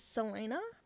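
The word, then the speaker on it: Celaena: sea is a hard sea so I'll just pronounce it with a c and no it's not it is Salena like like a Selena Selena I had to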